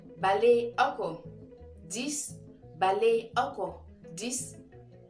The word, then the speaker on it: balé oko: 10, Également, les gens peuvent dire balako. Voilà. Naturellement, les gens disent balako, balako, baliako. C'est un peu difficile de prononcer le E, de balé, encore. Balako, balako, balako, balako, dans la rapidité, quoi. Mais cela revient à la même chose.